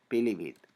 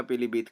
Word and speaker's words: पीलीभीत: क्योंकि जब हम इसका उच्चारण करते हैं तब हम छोटी ई का ही उच्चारण करते हैं, हमारे मुंह से पीलीभीत ऐसा नहीं होता है। पीलीभीत मतलब कि हम छोटी